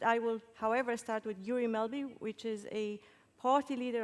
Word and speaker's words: Guri Melby: But I will, however, start with Guri Melby, which is a party leader of Venstre, Norway. Am I pronouncing it right?